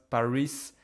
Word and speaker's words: Paris: have no excuse anymore, in French you do not pronounce this S. The city is Paris. Okay, not Paris, not Paris, not anything else. It is just Paris.